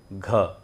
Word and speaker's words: घ: ग में लिखते हैं हम जी और घ में लिखते हैं जी एच, यानी कि ग में अगर हम ह का उच्चारण भी अगर जोड़ देते हैं तो वो हो जाता है घ।